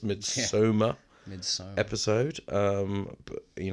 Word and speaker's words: Midsommar: our mid Soma as we found out how it's pronounced mid Soma mid episode um but